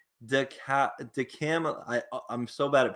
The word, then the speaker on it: DeCamillis: Number 3, Joe DeCamillis. It's hard. I'm sorry. Okay. I butchered his name. It's DeCamillis. DeCamillis.